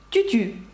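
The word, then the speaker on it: tu tues: буде моє улюблене сполучення Тютю що означає французькою ти вбиваєш французькою це Тютю Чому Тому що ви знаєте що с не читається наприкінці слів і виходить так тю-тю ти вбиваєш і останній звук -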